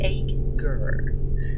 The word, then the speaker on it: acre: chapter 4 the acres acre pronunciation egg gur now uh first or